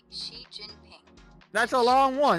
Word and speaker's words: Xi: The Xi sounds like she. Oh Jin God. like Jing. Can you just tell me what everybody says, like, to make it short? Most folks just say Xi Jinping.